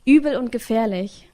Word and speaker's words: Übel und Gefährlich: Übel und Gefährlich.